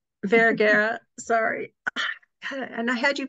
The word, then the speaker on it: Vergara: Vergara, sorry. And I had you pronounce it in everything.